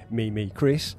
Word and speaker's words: Mimi Chris: Okay, this one's been made by Mimi Chris, and yes, that's how the name's pronounced, and apparently this is their first ever attempt at crafting anything for D&D.